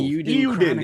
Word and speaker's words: Eiyuden: Definitely the Lord of how we pronounce Suikoden? I always butcher it. Suikoden and Eiyuden Chronicles. Eiyuden.